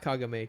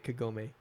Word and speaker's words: Kagome: Not Kagame, Kagome. It's spelled the same, but I mean, if we were in Japan, maybe, but yeah.